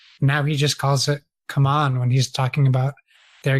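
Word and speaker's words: CMON: Gizmos by it's Come On, I guess now. I've been pronouncing it wrong forever. They issued a statement saying it's called Come On, not Simon.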